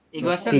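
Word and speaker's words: 이것은: pakainya adalah igot Igo igosen ya igosen Nah jadinya seperti ini kenapa dibacanya igosen karena siotnya naik ke sini igosen ya artinya adalah benda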